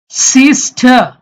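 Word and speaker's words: sister: সিস্টার, ব্রিটিশরা এই রটা উচ্চারণ করবে না, এই আর উচ্চারণ করবে না। সিস্টার।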